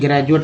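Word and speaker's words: graduate: जैसे ज कैसे बोलते हैं, तो जो ग्रेजुएट में एक वर्ड देखेंगे GRDUATE, ग्रेजुएट में डी का उच्चारण ज के रूप में होता है, न कि ड द के रूप में।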